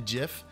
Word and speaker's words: GIF: I don't care if you guys call it gif you're allowed to call a gift I've never corrected anybody who calls a gift